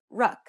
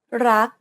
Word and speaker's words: รัก: to say this, however, they would tend to say something like ruck. It's a natural habit to release the final consonant sound. In order to pronounce this word properly, however, you want to stop just as the back of the tongue contacts the roof of the mouth. Never release the air of final consonants in Thai words.